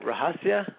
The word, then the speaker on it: Rahasya: uh did did i say your name right rajasia yes you did he usually gets butchered but that's pretty good all right so